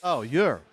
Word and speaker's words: Jur: The J is pronounced like a Y. Oh, Jur.